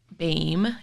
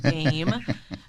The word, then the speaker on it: Bahme: so it's Bame law Bame is how you pronounce it similar to same lame name but Bame it's it's spelled b